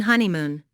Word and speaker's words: honeymoon: There are three syllables in honeymoon with the stress on the first syllable.